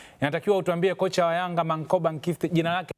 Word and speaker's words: Manqoba: Eh kocha anatamkwa kwa wanasema click sound anaitwa Mang'a eh kwa hiyo inatakiwa tukarili humo.